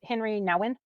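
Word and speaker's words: Henri Nouwen: Well, I definitely believe there's this guy, and I think his name is pronounced Henry Nouwen, and he's extensively talked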